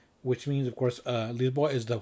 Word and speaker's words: Lisboa: Here I have this a box set called Lisboa Under the Spell, which means, of course, Lisboa is how you say Lisbon.